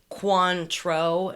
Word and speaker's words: Cointreau: So that Cointreau that for last week's, yeah, she said it's phonetically pronounced Cointreau. Am I pronouncing that correctly? It's in the parentheses. Cointreau.